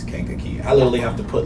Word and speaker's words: Kankakee: treat what you say people say King Kagi why or people's live in khaki whenever whenever a pronounced they say can khaki is like is Kankakee I'll only have to